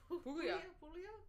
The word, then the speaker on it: Puglia: People are saying only Italian wines I like are from, how do you pronounce it? Puglia? Puglia.